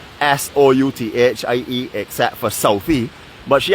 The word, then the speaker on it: Southie: We now have, I don't know what my friend Joy wants me to tell you how to pronounce SOUTHIE except for Southie.